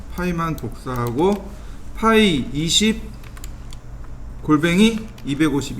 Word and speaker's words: ø: 얘는 뭐라고 읽냐면 파이 50이라고 읽으시면 돼요.